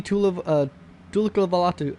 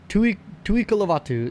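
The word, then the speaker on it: Tu'ikolovatu: Stevie Tulivalatu, or... Tui Kalavatu is how you pronounce it, I believe.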